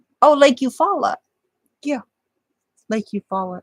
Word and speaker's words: Eufaula: I'll be right back it's spelled e-u-f-a-u-l-a you follow it's an easy thing foreign foreign thank you